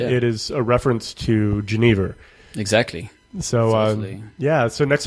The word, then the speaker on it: genever: of the Spirit uh in Belgium we say uh genev genev yeah oh okay I think